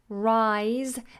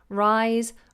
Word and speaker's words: Rhys: how do you pronounce Rhys Rhys that s is more like a Zed because it's voiced Rhys risen and reason all of them are pronounced like Zed's Rhys risen reason okay who